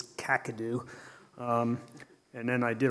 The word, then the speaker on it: Kakadu: first thing he says you need to learn how to say it's not kakadu it's kakadu um and then i